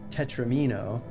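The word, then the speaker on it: tetromino: So it's not tetramino, and it's not tetramino. It's tetramino.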